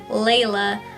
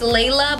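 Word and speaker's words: Lelia: name so funny story my middle name is pronounced apparently or so they say Laila but it's spelled LEL l IA so whose fault do you think yeah so anyways it's pronounced Laila but the L comes before the I like I thought if it would be Laila it BL e I ll a love instead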